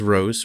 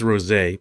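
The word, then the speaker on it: Rosé: says Goku black turns Rose which it's it's pronounced Rose a but it's difficult to say that in comments because you have to use the e with the slash above it anime is za zu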